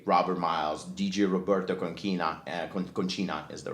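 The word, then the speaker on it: Concina: himself as dj robert miles dj roberto conquina conchina is the right pronunciation and i was like i really want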